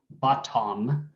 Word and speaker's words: bottom: So B-O-T-T-O-M, bottom, right? That's not how we say it. We say bottom, bottom. What's the vowel in the second syllable?